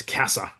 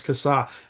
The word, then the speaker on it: Kassa: Well, before we press record, I just said, hey, in Australia, we pronounce that surname as Kassar. And he said, no, it's Kassar.